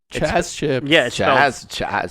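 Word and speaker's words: Chazz: is chance chips chess chips it's spelled it's listening it's a Lithuanian company it's spelled uh c-h-a-z-z oh like jazz like jazz exactly uh I'll read this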